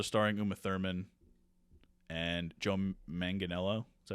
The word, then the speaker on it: Manganiello: Also starring Uma Thurman and Joe Manganiello. Is that how you say his name? Yeah, yeah. Manganiello.